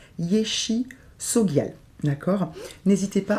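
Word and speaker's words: Yeshe Tsogyal: La tigresse aussi, qui s'appelle Yeshe, donc Tsogial, alors pardon, il y a la prononciation, Yeshe Sogial.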